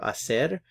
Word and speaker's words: hacer: here for the verb Acer remember that the H is silent so we have isse